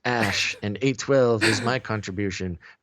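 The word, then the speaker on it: Æ: letter X and then AE is pronounced ash and 8:12 is my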